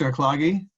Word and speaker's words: Akhlaghi: Eric lagi you, you have the floor. Banafsheh Akhlaghi: Thank you. It's your pronunciation was perfect.